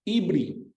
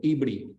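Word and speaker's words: עברי: Se pronuncia Ibri en hebreo, Ibri.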